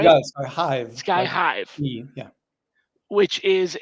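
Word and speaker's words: SkyHive: I'm going to pronounce this horribly. Sky Hive. Is that right? You got Sky Hive.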